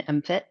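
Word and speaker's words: MMFT: and use in in mfit that's how we pronounce that acronym mmst is mfit um and uh did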